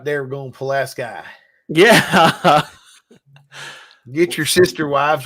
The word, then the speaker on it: Pulaski: Pulaski? Well, it's everybody says Pulaski, but you add a little bit of a twang to it, and it's a Yeah. little ambiguous. Oh, right there, we're going Pulaski.